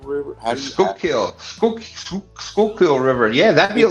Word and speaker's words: Schuylkill: Scooterville River? Schuylkill River.